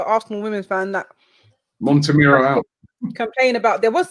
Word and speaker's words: Montemurro: Can never pronounce his name. The women's manager for Arsenal, Joe Montemurro. That's it, Montemurro.